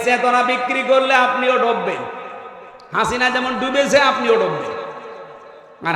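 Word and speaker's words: حسنة: এটা পার হওয়ার সময় এই নামটা উচ্চারণ হচ্ছে হাসিনা না হাসানা রব্বানাদুনিয়া হাসানা হাসানা আল্লাহ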